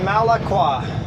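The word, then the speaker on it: Malakwa: In the dispatch, the boss wrote very clear how to pronounce this place. Malaqua.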